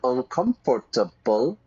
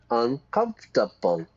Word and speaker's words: uncomfortable: Notice the pronunciation, everybody. Not uncomfortable. Uncomfortable. Uncomfortable. 4 syllables, yeah?